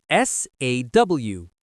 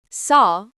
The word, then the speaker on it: saw: Saw is for the past. We do not say seed. We say saw. Be careful with pronunciation. It is like the tool used to cut wood.